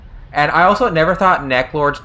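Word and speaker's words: Neclord: I necklord okay uh I'm sorry to tell you but a lot of people think of it as neck Lord okay you gotta Burns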